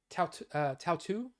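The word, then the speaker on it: Tautou: Tautu, I believe is how you say it.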